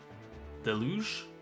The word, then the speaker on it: deluge: Deluj deluge. Let's check. Deluj from French it is a French word originally said deluj but in English delu de lu stress on the first syllable.